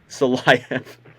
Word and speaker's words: Silayev: Anton Silyev, or Silayev, however you say his name. Silayev.